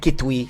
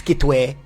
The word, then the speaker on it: Kitwe: Yeah, it's not Kitwi, it's Kitwe. Chitwe.